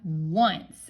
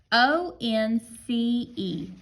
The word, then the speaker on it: once: because c e says right now we have once and this is one that we really can't sound it out that's why it's a sight word because the O doesn't say does it this is just how we have to spell it this we just have to practice this one o n c e once good job you guys